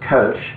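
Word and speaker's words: Kölsch: that particular area and kolsch the proper way to pronounce it is coach so you actually have to um take it to an o e kind of sound together but i'm i'm perfectly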